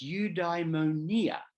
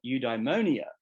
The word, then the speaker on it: eudaimonia: human life is eudaimonia now that's the Greek pronunciation but as I'm an English speaker I find that difficult so I'm just going to call it eudaimonia which is the way most English speakers pronounce it this is usually translated